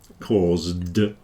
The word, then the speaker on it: caused: on it cause then the S is pronounced more like a zed it's a voiced consonant and because of that the D then sounds like a d caused yeah and cost well